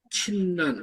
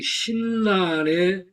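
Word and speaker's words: 親鸞: 근데 호넨의 제자인 친난, 우리나라는 신난이라고 발음을 하는데 예, 예. 그 신난의 악인이 성불하고 악인이 정토에 간다.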